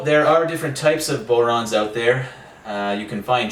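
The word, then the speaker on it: bodhrán: So this is the Bodhran, also pronounced Bowron.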